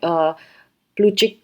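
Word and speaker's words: Plutchik: बनता है सो ये प्लू चिक का था टी साइलेंट होता है अगेन ये आप प्रोनंसिएशन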